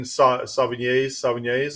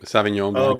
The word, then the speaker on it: Sauvignon Blanc: The wine Sauvignats. Is that how they say it? Sauvignon Blanc.